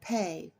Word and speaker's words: Pe: never takes a holiday so pay is sometimes pronounced P the symbol for ancient